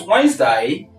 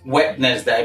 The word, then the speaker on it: Wednesday: not epitone number two this is Wednesday and not wednessday because nobody's wedding yet um number three you